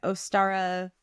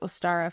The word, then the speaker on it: Ostara: so in thanks to Ostara for saving her life. So, I looked up how to say this. It was like Uster or Ostara and later Ostara, the goddess of spring herself,